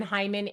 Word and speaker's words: Heiman: And then Hyman.